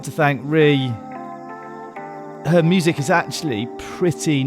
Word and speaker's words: Rhi: And Ree is spelled R-H-I.